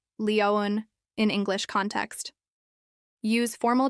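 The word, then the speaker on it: Lyon: I'd like a roundtrip ticket to Lion has stress. I'd like a roundtrip ticket to Lion. French Pronunciation: Lion is Leoan in English context use formal transaction tone that's clear and purposeful.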